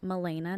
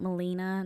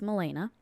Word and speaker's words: Milena: Like I said, my name's Milena, pronounced Milena, not Melina, not Milana, not some people just straight up call me Melanie. None of those. It's Milena.